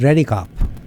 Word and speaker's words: Redekopp: Okay, you pronounced the right one. Brad REDEKOPP.